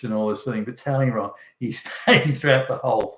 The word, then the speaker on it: Talleyrand: And Talleyrand's spelt tally as in counting rand, so it would look like Talleyrand, but they pronounced Talleyrand.